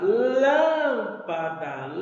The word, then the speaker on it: lâmpada: tabelinha Então veja bem a palavra lâmpada lâmpada ela a a sílaba tônica dela a sílaba mais forte Ela está na antien útima sílaba Então ela é proparoxítona a palavra tênis ó